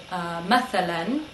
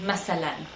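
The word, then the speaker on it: مثلا: And lastly, we have the word mathalan. Sometimes you'll hear this pronounced masalan. So the th can change to a s sound.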